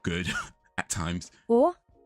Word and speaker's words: og: Å. Or, but that's like or. Å. Or, so you're not really pronouncing the G.